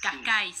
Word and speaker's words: Cascais: Del club de tus amores, que es natación y gimnasia, digo, el año pasado estuviste en Portugal, no sé cómo se pronuncia, Cascais, Sí, Cascais.